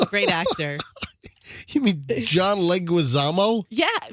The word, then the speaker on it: Leguizamo: It's John Leguizamo. He's a great actor. You mean John Leguizamo?